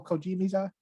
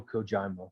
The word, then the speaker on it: Kojima: like you know what what's his name hideo kojimiza and it's pronounced hideo kojima yeah he is these people